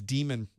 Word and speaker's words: daemon: was uh restarting the demon some people but it's demon spelled d-a-e-m-o-n so some people will say Daemon both are correct the same thing as